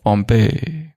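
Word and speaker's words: Pompeii: वो मुरली में पॉम्पे शब्द नहीं आता है, पम्पई ऐसा कुछ आता है, पॉम्पिया। पर पॉम्प ऑफ माया अलग, पॉम्पे पॉम्पिया ऐसा कुछ आता है, पर प्रोनाउंसिएशन है पॉम्पे, द फॉल ऑफ पॉम्पे।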